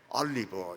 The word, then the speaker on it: 올리브: 돌 감람나무는 뜰고 또 쓰고 그래서 먹을 수 없지만은 참 좋은 감람나무 올리브는 우리 교회는 발음을 정확하게 해야 되기 때문에 올리브 이렇게 발음을 하시기 바랍니다.